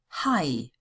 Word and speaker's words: Hai: AI is also pronounced as I. Hai, Mai, Kaiser.